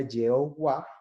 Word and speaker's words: Jehová: al castellano sería YHWH, que una tradición pronuncia Yahweh, que ya traducido es Yahvé, y otra tradición pronuncia Jehová, que ya traducido es Jehová.